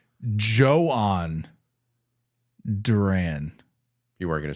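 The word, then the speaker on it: Jhoan Duran: I thought it was Johan Duran. I think a lot of people did. I think we've all been saying Johan. We've been duped. We've been speckeldorfed. Spell that real quick. So it's actually Johan Duran.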